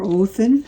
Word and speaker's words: Odin: would love this deck the hermit is odin or oathan as it's more properly pronounced strength your yorgermonder the